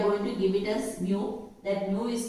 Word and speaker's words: mu: It is said to be mu. You pronounce it as mu.